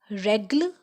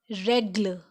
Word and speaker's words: règle: So examples of accent grave are règle. It sound like règle. A. It is règle.